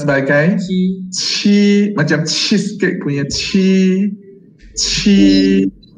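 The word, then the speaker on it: 七: Okay, 老师 nak ingatkan anda semua, ini Q tak boleh pronounce sebagai ki, ya. Yeah? Ini kalau dalam bahasa Melayu adalah pronounce sebagai ke, kan? Macam Quran punya ke. Tapi ini jangan pronounce sebagai ke. Ini adalah chi, chi, ikut.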